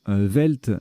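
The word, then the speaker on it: veld: Velt, donc ça s'écrit V-E-L-D ou V-E-L-D-T.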